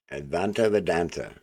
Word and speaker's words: Advaita Vedanta: Advaita Vedanta. Okay, so now we know how to pronounce that.